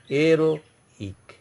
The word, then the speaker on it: héroïque: And H is ash mute. That is, H is mute in every French word. So your pronunciation here in this word, pronunciation starts from E. O accent aigu. Say aero. Aeroic. The pronunciation will be aeroic.